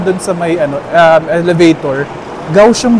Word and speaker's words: Kaohsiung: Ay narinig narinig namin doun sa may ano elevator gausum daw yung ano pronunciation. Hindi causum gausum parang letter G.